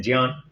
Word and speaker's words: ज्ञान: मेरे पिताजी संस्कृत के टीचर थे, तो संस्कृत में इसका शुद्ध उच्चारण है ज्ञान, तो उन्होंने हमको वही सिखाया, तो वही बोलते बोलते उसका आदत हो गई।